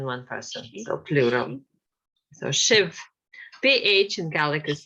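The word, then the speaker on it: sibh: So Shiv, PH in Gaelic is pronounced as V quite often. So, but well, depends on where it is, but BH is V. So that's something that's worth remembering. So Shiv, Shiv, Shiv.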